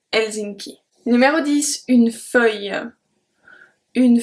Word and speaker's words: Helsinki: So we don't pronounce the H. We don't say Helsinki. We say Helsinki.